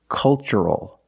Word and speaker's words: cultural: The first word, culture. And the second word, cultural. Also remember the first syllable is a short U, like cup and up. Make a relaxed sound. Culture, and cultural. Let's test what we've learned.